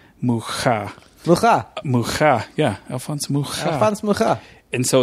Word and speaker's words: Mucha: it'll be argued both themes so it's alphonse mucha o rect prints but I think you're probably right um yeah you know I used to say ha but he's not Hispanic he's check and so